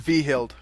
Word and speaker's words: Hvidhyld: Yeah, it's it's pronounced Vihild. Vihild, okay, because there was a classmate of mine at St. John's who had the same last name, and then that's how it's pronounced.